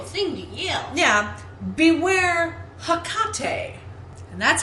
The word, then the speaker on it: Hecate: I believe it should be Hecate, that the first syllable gets it.